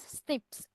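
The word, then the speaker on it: SNP: DNA difference that is a single nucleotide polymorphism pronounced as Snips occur in humans so these all features so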